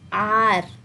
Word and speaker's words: hour: So hour, though it is starting with a consonant, we will still use an, because here H is silent and it is sounding as a vowel.